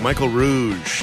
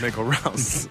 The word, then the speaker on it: Michael Rouse: Michael Rouse. Now I forgot how to say it. Michael Rouse. Rouse. Like house. House, but Rouse.